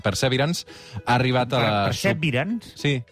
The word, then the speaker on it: Perseverance: Perseverance? Sí, és que s'ha de pronunciar així en anglès.